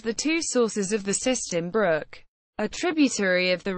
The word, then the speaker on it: Siston: Siston, pronounced sizeton, anciently Siston, Sistone, Syton, Sytone and Systun